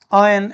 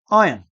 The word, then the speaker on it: iron: keep it on mute they pronounce this word as ion so the pronunciation of